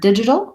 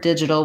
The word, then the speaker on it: digital: in the word digital we have first syllable stress so the did part is long and we can see that marked in the dictionary with a little line before the first syllable in the word digital we have the vowel it this is the word this is the vowel that is in words like live didn't different I use the anchor